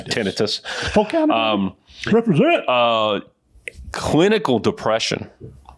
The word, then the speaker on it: tinnitus: ringing of the year I call it tinnitus but I know the pronounce pronunciation is tinnitus um represent uh clinical